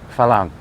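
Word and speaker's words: ฝรั่ง: a r a n g but the Tai pronounce it Fang and a Fang is I wouldn't call it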